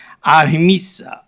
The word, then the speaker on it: ahimsa: And whereas ahimsa, is that pronounced ahimsa?